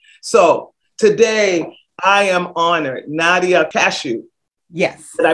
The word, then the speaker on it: Nadia Kashouh: up as perfection so today i am honored nadia cashew yes did i pronounce it properly you did all right is